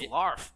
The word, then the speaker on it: Larf: Yeah, yeah, I knew it rhymes with barf.